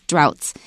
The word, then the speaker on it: drought: not enough rain and watch that GH cuz a lot of words that have GH in them have unpredictable pronunciations so you have to pay attention I wrote the word out right above it just to remind myself so I don't accidentally say it wrong right if you take off the d r and the S it's UT so watch out the vowel will change this is droughts all